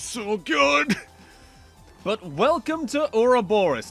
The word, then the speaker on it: Ouroboros: good but welcome to Aura Boris not you're a Boris like they mispronounced the entire game more or less the